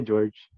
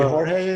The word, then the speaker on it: Jorge: You can just say George. It's fine. George. Okay. So would it be Jorge in sort of like a Spanish pronunciation?